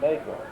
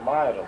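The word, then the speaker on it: Mauro: But my father never pronounced it Negro. Never. What did he say? Said the way it's supposed to be, Mairo, but that means Mairo.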